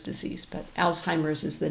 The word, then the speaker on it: Alzheimer's: Sometimes people pronounce it old-timers disease, but Alzheimer's is the name of the researcher who first described the disorder.